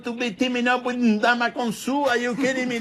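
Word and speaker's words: Ndamukong: If someone spells their name with an N and a D, I think we should do that. Ndamakin, like spring into it.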